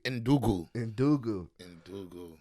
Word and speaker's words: Ndugu: I don't want to mispronounce the name, but it's Nungna. Pronounce it for me. Ndugu.